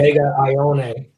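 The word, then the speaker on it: Ioane: They say Vega Ione.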